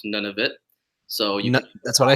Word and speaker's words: Nunavut: it's it's a territory it's pronounced none of it so that's what I